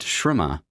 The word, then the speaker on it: Śramaṇa: Rama, pronounced Śramaṇa, meaning striver or seeker.